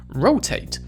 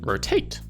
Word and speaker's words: rotate: In America we see an emphasis on the first syllable, where in Britain the emphasis is often on the last syllable. And so in these examples, in America, rotate. In Britain, rotate.